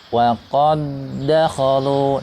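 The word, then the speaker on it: وقد دخلوا: Wa qad dakhalu. Nah, yang betul seperti itu. Tidak ada suara qalqalahnya. Kemudian yang berikutnya adalah contohnya ballahum mau'id.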